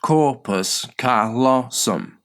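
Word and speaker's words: corpus callosum: That is if we severed that single connection between your right and left hemispheres the corpus colossum pronounced corpus colossum and asked the hand controlled by the non-verbal side of your brain to write words.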